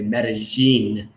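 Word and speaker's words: Medellín: It would be correct, but if you are Colombian, you would say Medellin. Medellin. So the two L's or a Y would be like a J, Medellin.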